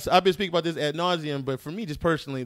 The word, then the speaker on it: ad nauseam: little bit uh i've been speaking about this ad nauseam but for me just personally the drinking just